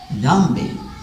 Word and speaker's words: Dhambi: Dhambi means DH. It is pronounced like DH. It is pronounced like there. You put your tongue between your teeth.